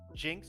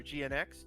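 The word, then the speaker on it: GN-X: on the high grade jinx or gnx depending on your pronunciation um it came in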